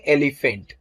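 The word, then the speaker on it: elephant: एलिफेंट बोलते समय ध्यान दीजिए तो फेंट बोलते समय आप थोड़ा जोर से बोलते हैं, एलिफेंट बोलते हैं कि नहीं।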